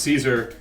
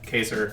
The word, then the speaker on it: Caesar: they were like uh it's pronounced Caesar you idiot and then the guy was like well first of all we pronounce it both ways in our video and second of all uh the character himself in his video game calls himself caser it's I yeah it's